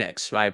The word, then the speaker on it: Xi: with the spleen; and Xi pronounced like she, which connects the whole body.